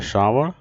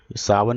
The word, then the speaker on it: श्रावण: आषाढ़, पांचवा होता है श्रावण, सावन भी बोलते हैं, श्रावण भी बोलते हैं, ठीक है ना। तो ये 2 तरह से उच्चारण होता है इसका।